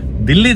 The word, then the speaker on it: Dili: जी नहीं, दिल्ली दरअसल Timor Leste या फिर ईस्ट तिमोर देश की कैपिटल और लार्जेस्ट सिटी है।